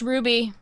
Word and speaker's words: RWBY: rooster teeth web series show uh RWBY it's pronounced Ruby Ruby okay I have I've seen bits of